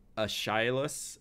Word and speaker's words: Aeschylus: It starts with an A, and I can't pronounce it. Aeschylus, A-E-S-C-H-Y-L-U-S, Aeschylus.